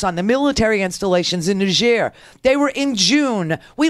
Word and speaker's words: Niger: I guess you call them Nigerians, because even though there is a country called Nigeria, and this is Niger, and it's pronounced that way because it's a French colony.